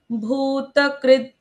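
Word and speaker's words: भूतकृत्: भूतकृत भूत, त का उच्चारण पूर्ण, भूत फिर क्री, क के साथ रू की मात्रा, क्री, क्री के भूतकृत। बाद आधा द।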